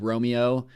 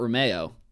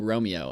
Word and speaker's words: Romeo: You had Caleb Romeo, not Romeo. Speaking of, like every show, I learn the correct pronunciation of folks' names. It's Caleb Romeo of Thousand Oaks.